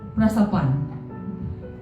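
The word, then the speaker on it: πρόσωπον: Prosopon. Pronunciation-nya saya tanya Tim karena Tim mahasiswa STH.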